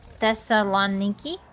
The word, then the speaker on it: Thessaloniki: going pretty well I will say the th Thessaloniki yeah we're getting I'm probably pronouncing that really wrong no that's that's more